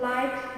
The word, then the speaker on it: light: Silent GH, the GH is not pronounced before a T at the end of many words like thought, light, might, right, and fight.